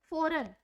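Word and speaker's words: foreign: Example, फॉरेन, फॉरेन में हम G की कोई भी साउंड नहीं आती है, ग या जय कुछ भी नहीं आता, फॉरेन, फॉरेन ही पढ़ा जाता है, फॉरेन।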